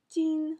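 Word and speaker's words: 金: Par exemple, l'or était prononcé jin en chinois, mais gum en coréen.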